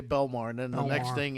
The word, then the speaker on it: Belmar: Uh, are we allowed to pronounce the W? No, no, we call we always say Belmar and then the next thing is down South Jersey.